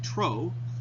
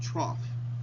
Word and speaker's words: trough: is the lowest part I know it looks like troe but we pronounce it trough so from one trough